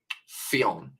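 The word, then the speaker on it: Ffion: fiffen film fion Lewis is the double F yeah so one of them will be silent um fion fion Lewis Kyle fion yeah fion so it's almost like fion ah but without the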